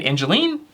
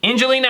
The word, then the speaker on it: Angelina: Angeline? Have I been saying it wrong? Angelina Outside, not Angeline.